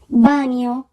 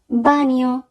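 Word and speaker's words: bagno: বানিও, বানিও, toilet. এখানে যদি বানানটি খেয়াল করি তাহলে আমরা দেখব সবার শেষে আছে GNA, GN এর উচ্চারণ হবে নিয়া।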